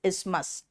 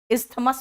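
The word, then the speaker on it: isthmus: On each side is इस्मस। इस्थमस मत कहना उसमें टीए साइलेंट है। वो इस्मस है।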